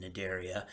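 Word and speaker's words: Cnidaria: Notice that the sea is silent in nadaria.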